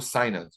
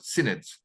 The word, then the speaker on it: synod: In the 1960s, there were no synods, or synods, I think is the proper pronunciation. Yeah, Americans say synods.